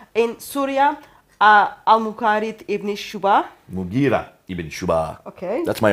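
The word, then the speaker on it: Mughira: Sorry for the pronunciation. Abdul Qais. Qais. In Syria, Al-Mukarid ibn Shuba. Mugira ibn Shuba.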